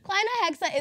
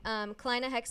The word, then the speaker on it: Kleinahexa: But it's spelled with E's instead of A's, but I figured it would be easier to pronounce if it was with A's. It's more like phonetic, but we'll see.